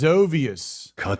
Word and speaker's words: Zovius: So it's Zovius. Zovius. Dizzy with a P Remy. It's like Xavier. Zovius.